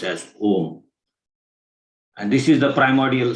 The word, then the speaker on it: om: on the omkara principle the om is made up of three syllables the represents the left